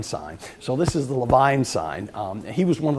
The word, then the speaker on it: Levine: would call it the Levine sign but they pronounce their name the Levine sign so this is the Levine sign he was one of the pioneer cardiologists